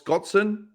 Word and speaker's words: Scotson: Here's Miles Scotson after the finish. And also, I pronounced his name properly. I think I typed it as Scott Sand, s a n d, not son.